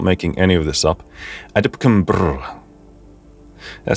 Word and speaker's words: AdLib: That's how it's officially pronounced, okay? I'm not making any of this up. AdLib.